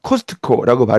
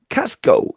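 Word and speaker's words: Costco: 하셔야 되는 겁니다 이를테면 우리가 코스트코라는 거 걔네들은 카스코 이렇게 발음합니다 우리는 허브 허브라고 발음하는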